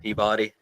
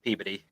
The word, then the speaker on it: Peabody: It looks like it would be pronounced Peabody. It's Peabody.